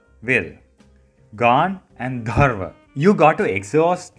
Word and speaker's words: Gandharva: So it's pronounced as Gandharva Ville. Gan and Dharva.